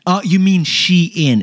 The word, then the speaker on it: Shein: this year what do we got the most mispronounced word of this year was the Chinese shopping app Sheen Oh you mean shein it's actually shein that's what they said yeah